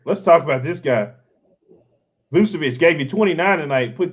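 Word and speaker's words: Vučević: Yeah, Vucevic.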